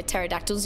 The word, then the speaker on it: pterodactyls: why can't you hear pterodactyls use the bathroom i'm ready for this aeron i'm ready for this why welcome in by the way p is silent bruh that actually the